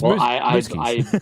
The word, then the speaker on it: Muzquiz: because Frank has the best last name to pronounce. So I get a welcome change between the two. So it's Muzquiz.